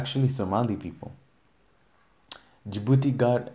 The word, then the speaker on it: Djibouti: Djibouti in Swahili is Djibouti. In Swahili is just Djibouti, but then we write it different because we don't have that Djibouti. How is it pronounced in French? We don't have that DJ thing that French people do now. We just say Djibouti.